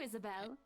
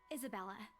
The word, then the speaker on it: Isabella: Isabella. She said my name wrong, get fucked, dude. No, stop. Right. It's a lovely name, Isabel. She did it again! It's Isabella.